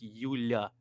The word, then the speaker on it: Yulia: So No, it's that you I guys would have Julia. thought. you're including an I. There's it's Yulia, not Yulia. It's Yulia.